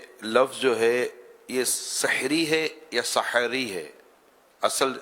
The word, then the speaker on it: سحری: تو اردو زبان میں لفظ سحری ہے, یعنی ہا جو ہے اس پر زبر ہے, سحری, سحری, سحری.